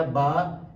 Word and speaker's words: با: کی زبانوں کے اندر، جبکہ عربی کے اندر جو ہے وہ با کیا جاتا ہے۔ اور اس کے اندر